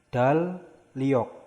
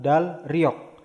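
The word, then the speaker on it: 달력: Berarti dibacanya dal liok, bukan dal riok, tapi dal liok.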